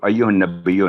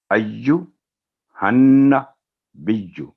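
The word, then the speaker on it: أَيُّهَا النَّبِيُّ: تو اس سے آگے ہم چلتے ہیں ایھا النبی, تو ایھا النبی نہیں, ایھا النبی, ایھا النبی, یہاں پر بھی وہی پوائنٹ ہے, بیجو یعنی بی کی آواز لمبی نہیں ہوگی اور نون پر 2 سیکنڈ گننا ہوگا.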